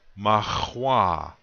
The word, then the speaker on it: mahua: The accent is going to be on the second syllable. Now I'll say this word, mahua.